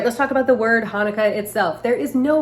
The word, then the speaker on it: Hanukkah: you'll see it with the ch which denotes more of that guttural huh it's the proper pronunciation more of that hanukkah so that's why you